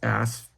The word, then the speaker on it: Asaph: So the particular prophet that wrote Psalm 83 is Asaph, and that's spelled A-S-A-P-H.